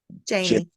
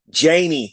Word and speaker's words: Janie: Janie. Janie. See, because I want to keep calling you Janae.